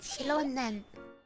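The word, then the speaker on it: Xilonen: 旅人さんにパイモンちゃん、こんにちは。カチーナ、体調はもういいのか？それに今は家でゆっくりしてる場合じゃないでしょ。私も何かしなくちゃって思って、ちょうどエンジン様が野外に駐在する戦士を募集してるって聞いたから応募してきて。最近あなたのことをよく聞くんだ。みんな頑張ってるんだから、私も頑張らないとって思ったの。そういえばシオレネン How you pronounce the name? いつでも来ていい。ついに伝説のコメのシロネン I mean it's oh yeah, it's correct. シロネン the name.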